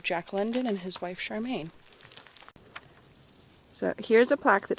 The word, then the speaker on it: Charmian: while Jack London and his wife Charmaine, I think her name is pronounced, or Charmian, while they were riding